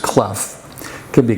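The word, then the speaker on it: Clough: a grandson Bob cluff it's c-l-o-u-g-h and it's pronounced clef it could be Cloud clove whatever but it's cleff and it tells besides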